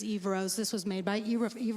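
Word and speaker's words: Yvrose: This one is, oh, how would you pronounce this? Eve Rose? Yep. Yes. Y-V-R-O-S-E. This is Eve Rose.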